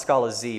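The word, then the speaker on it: Scalaz: Actually, I think it's pronounced Scala Z, but it's up to y'all to decide that.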